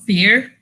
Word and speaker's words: Vier: My main game, however, or thing I'm working on is called Fear. It's spelled Vier.